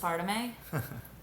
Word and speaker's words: aspartame: It's pronounced aspartame.